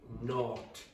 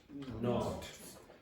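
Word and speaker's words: nought: and it's another word for zero it's pronounced not not and uh it's used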